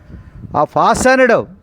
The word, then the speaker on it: fastened: And an arrangement of flowers or leaves or stems are fastened. Fastens means joined together. Wreath means, my dear students, please listen. Fastened, F-A-S-T-N-E-D, T is silent.